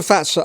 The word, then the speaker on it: Fazer: Hello, this is a Fazer upright piano, 108 centimeters tall, made in 1984 and just come into stock.